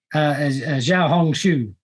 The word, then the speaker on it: Xiaohongshu: So Alan, I'm going to ask you to jump in and how do I pronounce that? Xiaohongshu.